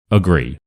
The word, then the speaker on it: agree: So I just want you to listen to how I say it and work out which part I say louder and more clearly. Agree. Agree. Agree. So hopefully it's quite obvious that the gree is a lot louder and the uh is a lot faster and that is why it's awah sound. Agree.